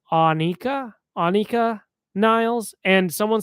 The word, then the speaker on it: Anika: And I said in my video I called her Anakah Niles and PE just because that's how Getty Lee pronounced her name. But people are commenting that it's pronounced Anika.